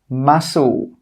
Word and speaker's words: muscle: The first rule is that when the letter C comes after an S, it's normally not pronounced. Some common examples are scissors, muscle, ascend, conscious.